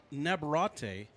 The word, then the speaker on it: Nabarat: Nabarat is how you say that.